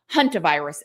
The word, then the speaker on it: Hantavirus: this rare virus called Hunter virus. It is spelled like this, but I see everybody pronouncing it as hunter virus. So, that's how I'm going to pronounce it.